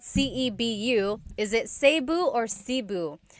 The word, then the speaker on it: Cebu: So, technically in the Tagalog alphabet, the letter E can be pronounced E or E like the letter I. So, I say Cebu. Cebu. And I know some people say Sabu, but usually it's either Cebu or Sebu.